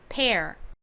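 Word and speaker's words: pear: 배이죠 발음은 어떻게 되나요 pair이라고 발음이 됩니다 자 t열과 페어 한 번씩 발음해 볼게요 먼저 tr부터 해볼까요 눈물 tear 잘 따라해 보셨나요 자 그럼 이번엔 배 발음해 볼게요 페어 좋습니다 자 이제 저희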